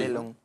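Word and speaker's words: Delhon: Bueno, en el medio de las denuncias de Bursaco se suicidó Delon, creo que se pronuncia así, ¿no? Sí. Delon, sí.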